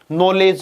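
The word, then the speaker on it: knowledge: हो गया ये वाला नॉलेज में के साइलेंट कै नाइफ में के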